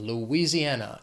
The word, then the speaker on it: Louisiana: The next state, Louisiana. It has 5 syllables. The stress is on that 4th syllable, that an, Louisiana.